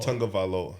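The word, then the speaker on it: Tagovailoa: Joe Burrow is try to pronounce Tavalo. T Tonga. Tonga. Tonga Valoa. Tonga Valoa.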